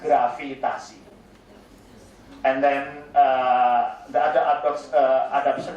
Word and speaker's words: gravitasi: Gravitation will be pronounced as gravitasi.